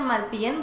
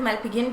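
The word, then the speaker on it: Malpighian: इट इज़ मैलपिगियन ग की sound दे दो बेशक, या मैलपियन बोल दो, GH को बिल्कुल साइलेंट कर दो। दोनों तरह से आपका बिल्कुल ठीक होगा, गलत नहीं होगा, दोनों तरह से आप इसको प्रोनाउंस कर सकते हैं, लेकिन मैं पिजियन नहीं बोलता, पिजन की फॉर्म में नहीं लेकर आना, ठीक है।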